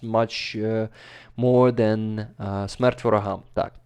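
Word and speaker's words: Смерть: and it's pronounced like Smert Voraham. Oh, it's pronounced like what? Smert Voraham. Smert. Smert. It's Smert.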